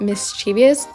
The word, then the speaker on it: mischievous: mispronounced mischievous before because I used to pronounce it mischievous I don't know why I added the extra syllable that's what it's called